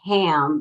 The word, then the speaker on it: Ham: this uh chakra is ham but it's not pronounced like ham the pig it's pronounced um h-a-h-m-m